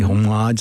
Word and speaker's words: homage: Why don't you say homage? Why do Americans say homage? I don't know. Homage. Say the H. It's spelled there. Say it. Otherwise, leave it out.